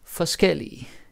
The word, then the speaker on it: forskellig: And then you got forskellig, different. Like the adjective, so forskel and forskellig. Now the pronunciation is also different, right? Forskel, forskellig, different stress.